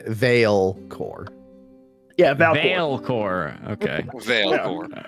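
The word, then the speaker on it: Vaelcor: have somebody on our team named valin right Veil core yeah Veil core okay Veil how do you spell that yeah yeah sure yeah sure Vore VA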